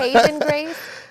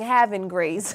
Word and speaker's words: Haven Grace: Haven gra messed upop Haven Grace and I was saying having Grace you need both that's